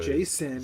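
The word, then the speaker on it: Jacen: That's a normal name from But it's spelled J A C E N. So Jason some gay way.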